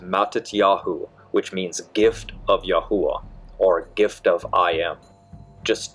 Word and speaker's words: Yahweh: popularity in the 1300s so Yahweh is the butchered Yiddish version of the name of God the true somatic Hebrew pronunciation is yahuwah which means I am existence we now know that